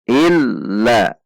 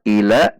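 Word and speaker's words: إلا: Iya, ada stres, illa illa. Jika dibaca sebagai ila, maka lam tidak memiliki tasydid.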